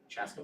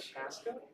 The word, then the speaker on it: Chaska: Chaska, Minnesota. Chaska? Chaska, Minnesota. Chaska. Chaska. Not Chanhassen. It almost sounds like Shasta. If you say it like Shasta.